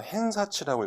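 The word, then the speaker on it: 偏差値: 자, 여기서 제가 조금 전에 이제 일본어로 헨사치라고 읽었는데 한자 편차치가 보이실 겁니다.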